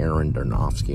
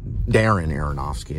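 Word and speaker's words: Darren Aronofsky: something out of a a recent Aaron darowski movie you know Darren aronowski is the right pronunciation it's like a recent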